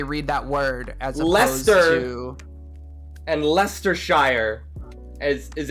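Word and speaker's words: Leicester: is different like i'm pretty sure we would phonetically read that word as lester and lester shire as is a very ancient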